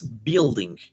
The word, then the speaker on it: building: Okay, these ones are going to be the building. Can you repeat it with me, guys? Building. Yes, correct. In this situation, guys, never pronounce the U. Yeah, no building. No. Building. That's going to be the word.